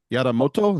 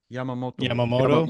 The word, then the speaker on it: Yamamoto: Yadamoto, is that how you say it? Yadamoto? Yamamoto.